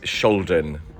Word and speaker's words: Skjolden: I believe the correct way to pronounce it is Scholen.